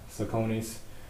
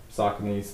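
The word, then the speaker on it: Saucony: now these are uh sakoni's soccer knees people call them different things see how it's spelled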